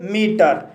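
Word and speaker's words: metre: Before, before शब्द के अंत में आर ई आया है और यहाँ पर आर ई का उच्चारण रा हुआ है इसलिए इसे बिफोर पढ़ते हैं। इसी तरह से मीटर, मीटर शब्द के अंत में आर ई आया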